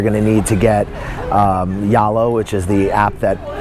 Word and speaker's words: Zalo: It's more like you got to contact them directly, and basically you're going to need to get Yalo, which is the app that is spelled Zalo, Z-A-L-O, but it's pronounced here as Yalo.